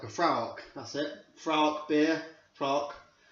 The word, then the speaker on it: Fraoch: It's a Scottish beer, and I think, if I'm right, it's spelt Fraoch, but the way the Scottish say it in sort of an old Gaelic tongue is Fraoch. Fraoch.